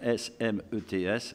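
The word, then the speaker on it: Smets: La famille de notre ami Jean-Claude Smet, on va prononcer comme son nom S-M-E-T-S, Smet, qui est l'ancien président des anciens combattants et autres fonctions qu'il a remplies au cours de sa vie.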